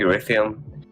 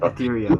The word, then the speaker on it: Ethereum: a fair point like i think erythem well i can't why can't i always pronounce it ethereum i think ethereum yeah